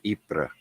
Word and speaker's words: Ypres: Yeah, I know in French it's called Ypres. Ypres.